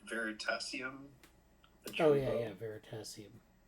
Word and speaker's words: Veritasium: way, but it's the great YouTube channel, I can't remember how do you actually pronounce it now. It's like Veritasium. Oh yeah, Veritasium. It's Veritasium.